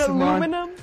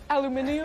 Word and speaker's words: aluminium: real party piece an aluminum I mean that's one way of pronouncing it aluminum okay aluminum aluminum alumin aluminium better it was back in